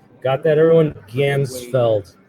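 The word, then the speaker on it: Ganzfeld: Gansfeld, not the Gandalf effect.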